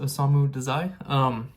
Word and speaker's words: Osamu Dazai: That's how you pronounce it, Osamu Dazai.